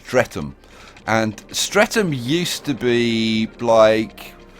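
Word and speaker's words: Streatham: Okay, this is pronounced stretum.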